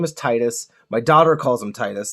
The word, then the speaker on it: Titus: I absolutely hate the fact that his name is pronounced Titus.